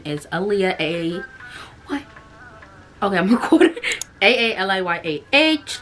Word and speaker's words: Aaliyah: AALIYAH, like the singer, but it's pronounced Aaliyah.